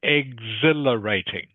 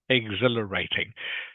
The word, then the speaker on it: exhilarating: H is silent okay it is a silent h so it's just pronounced exhilarating exhilarating do you know what